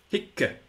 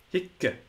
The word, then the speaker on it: hic: some languages up there that have this double syllable at the end of the word. We don't have it in English. Hic. Hic. And indeed, in some very old texts, it was written H-I-C-C.